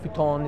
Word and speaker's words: futon: in there and uh or futon As Americans say it futon is the Japanese way so I get my